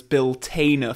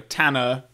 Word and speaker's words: Bill Tanner: really small role container I used to pronounce Bill Tanner's name as bill tainer for some reason which completely goes against my Northern accent where I would have thought that I would go for you know Tana with the the a